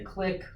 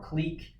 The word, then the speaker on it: clique: how to pronounce it so I've heard it to say click or click I'll probably switch between the two I don't really know which